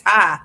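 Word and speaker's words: Ptah: Oh, and people pronounce it Patai. I've been pronouncing it Patai. It's Tai. Okay. The P is silent.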